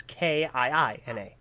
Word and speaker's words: Kina: her name is spelled Jackina, but Kina is Kiina.